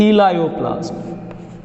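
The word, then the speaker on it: elaioplast: नाउ we talk about the second type of ल्यूकोप्लास्ट, that is इलायोप्लास्ट। Spelling पे गौर करना, word है ELAIO, इलायो PLAST, प्लास्ट।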